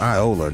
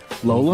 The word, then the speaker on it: Iola: It's pronounced Iola. Iola. That's not. What did you say? Lola? Lola? I thought that was an L. The L's It's an I? They didn't even make that a clear I.